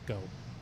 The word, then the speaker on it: Geaux: It's I'm originally born in Louisiana and uh all the Cajun heritage there, the French heritage there, G AUX is often pronounced go.